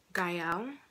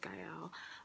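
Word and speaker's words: Gaëlle: okay so how to pronounce my name gael just gail uh you can also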